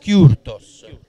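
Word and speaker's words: Kürtős: E si pronuncia, scusa? Kurtos. Kurtos.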